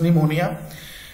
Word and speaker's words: pneumonia: November and she had pneumonia p p is silent it is pronounced as pneumonia she would lie in